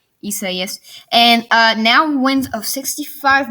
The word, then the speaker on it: Isaias: I'm bringing you another tropical weather outlook and discussion, I guess you could say, on tropical storm Isaias. That's how you pronounce it. I'm pretty sure, Isaias.